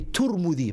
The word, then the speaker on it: Tirmidhi: Imam al-Tirmidhi, or you can say Turmudi, both ways you can pronounce it.